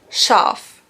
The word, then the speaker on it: Schaf: If there's an S, C and an H, then you pronounce it like sh. For example, Schaf.